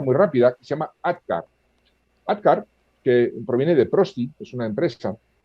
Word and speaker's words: ADKAR: Claro, la K de ADKAR viene de knowledge en inglés, porque es un acrónimo en inglés, pero se pronuncia igual, ADKAR, alerta, deseo, conocimiento, aptitud con P y reforzamiento.